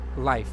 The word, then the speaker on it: Leif: Leaf as in like leaf of Leaf? Or life? How do you pronounce that one? It's kind of hard. It's the spelling of the name is L-E Life.